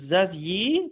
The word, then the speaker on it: Xavier: X، X comme Xavier، تتنطق هنا زي حرف الزد، ولد اسمه زافييه، تمام.